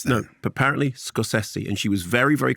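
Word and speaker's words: Scorsese: one thing I she said his name is pronounced scosi and I had I've always said scosi everyone says that no but apparently scosi and she was very very clear about this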